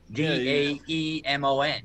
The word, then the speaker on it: daemon: Yeah, well, daemon is how they say it in like French or Italian. D A E M O N, daemon. Yeah, it sounds almost like diamond.